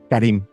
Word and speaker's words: Karim: sí, es Karim, es nombre árabe, es Harim Abdul, Karim. sí, pero se pronuncia Karim.